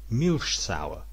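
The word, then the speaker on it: Milchsäure: and animal muscle and the germans would pronounce this milsauer which gives you some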